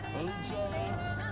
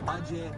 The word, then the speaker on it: Ajay: AJ Gale. As we all pronounce it properly, Ajay Gale.